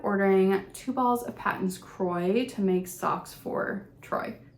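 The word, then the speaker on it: Kroy: I ended up ordering two balls of patents Croy to make socks for Troy it Rhymes Croy for Troy um and this color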